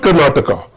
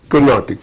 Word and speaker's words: Carnatic: What is Carnatic? It is not Karnataka. It is Carnatic.